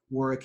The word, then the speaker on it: Warwick: And Warwick spells his name, as I always say, with a silent W in the middle.